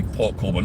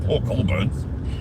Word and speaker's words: Port Colborne: That's how I pronounce it. Now, Port Colborne. It should be Port Colborne, not Port Colborne.